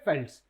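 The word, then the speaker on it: velds: नाम क्या high फेल्ड्स वेल्ड्स नहीं बोलेंगे क्या बोलेंगे इनको हाई फेल्ड्स लिखेंगे वीएल डी लेकिन प्रोनाउंस कैसे करेंगे फेल्ट्स ठीक है याद रहेगा लैंड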